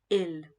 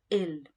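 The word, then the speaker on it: ils: say they it's usually ill the s is silent but there is an s so it's ill and if it's only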